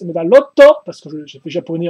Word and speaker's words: Medarot: de la licence medarot ou prononcer la japonaise medalotto parce que j'ai fait